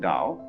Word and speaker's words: Dao: Do is the Japanese way of pronouncing Dao, the gentle way.